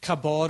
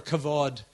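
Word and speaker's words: כבוד: In the Old Testament, the Hebrew word is kabod or kavod, is actually the way it's pronounced.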